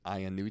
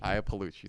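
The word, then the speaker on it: Iapalucci: for a long time I'm going to mispronounce her name uh um Adrian ianucci AIA paluchi Aya paluchi thank you so much very funny Adrian IAH palushi love her so she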